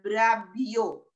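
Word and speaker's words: βραβεύω: Kata memerintah itu dari bahasa Yunani juga, ya artinya brabeo, ya brabeo, tulisnya brabeuwe, bacanya brabio, ya itu artinya apa?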